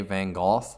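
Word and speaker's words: Van Gogh: century the Bell also Vincent Van go or as the British say van goth he was also known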